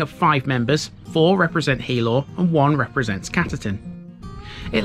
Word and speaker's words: Healaugh: to pronounce it because spelt h-e-a-l-a-u-g-h it can be pronounced a couple of ways thankfully wikipedia has got one of those ipa uh what sexual international phonetic alphabet is it is that what that stands for i don't know anyway on wikipedia it shows you how to pronounce it this is hilo here's my disclaimer